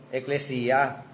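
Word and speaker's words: ekklesia: Ang ano ang Greek word niyan igles yung iglesya eclesya ano? Eclesiya. O yun ang pronunciation.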